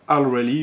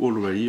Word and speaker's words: Allreli: le nom de la marque alrally ou all rally enfin ou alrally enfin ça dépend si on le prononce en français en anglais donc nous l'avons à